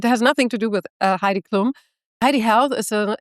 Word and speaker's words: Heidi: I pronounce it Heidi, but I quite like the way that you say it to be honest.